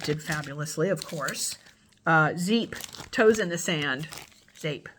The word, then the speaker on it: Zeep: fabulously of course uh zeep toes in the sand shape I think it's pronounced zape coconut sweet vanilla and Beach